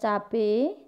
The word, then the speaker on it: cabai: Ya, meskipun pengucapannya cabe, nah, tapi penulisannya ini cabai.